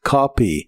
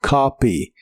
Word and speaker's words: copy: El verbo copiar en el presente de inglés es copy. La o se pronuncia como una a profunda y suena como copy.